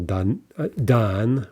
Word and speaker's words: дан: Данный, okay, here's the stress. This is rather exceptional. Dan would be the masculine.